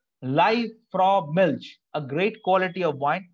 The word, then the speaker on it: Liebfraumilch: It's the pronunciation is something like, let's take a look. Live, okay, Lieb, Liebfraumilch. Liebfraumilch, a great quality of wine, internationally also famous,